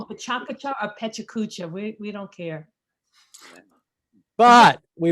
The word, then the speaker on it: PechaKucha: tomato um you can call it pechakucha or pecha kucha we don't care but we went through a